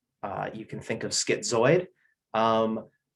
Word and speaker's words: schizoid: you can think of schizoid um the word zoid kind of rhymes with droid which is kind of